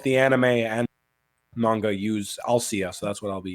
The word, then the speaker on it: Althea: Even though it's spelled Althea in this translation, it is Alcia or Alshia, however you want to say it.